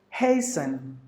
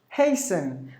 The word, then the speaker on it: hasten: The third word is hasten. Hasten. The T, the letter T is silent in both the English.